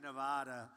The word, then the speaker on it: Nevada: I came out here I said nobody says it the other way it has to be Nevada right and if you